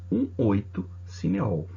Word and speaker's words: 1,8-cineol: Ele é 1, a gente não pronuncia essa vírgula, 1,8-cineol.